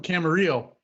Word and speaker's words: Camarillo: I'm from Camarillo. It rhymes.